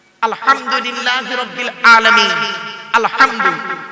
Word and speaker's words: আলহামদুলিল্লাহ: আলহামদু, এই গলার ভেতর থেকে হেটা উচ্চারণ করবেন। বাপেরা হাতে ধরে বলে যাচ্ছি, আলহামদুলিল্লাহ মানে হচ্ছে সমস্ত প্রশংসা আল্লাহ তোমার।